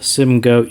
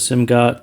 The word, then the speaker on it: Simgot: I do say Simgo. I don't know if it is Simgot, Simgoat. I'm not really sure how they officially pronounce their name, but Simgo is easier to pronounce for me, so I'll go with it.